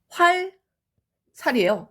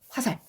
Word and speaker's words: 화살: 활살이에요. 근데 활살이라고 안 하죠. 리을 떨어졌어요. 화살.